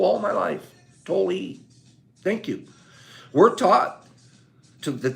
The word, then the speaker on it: Tolle: It's pronounced Tolle, is it? Tolle. Did not know that. I've said Tolle all my life. Tolle.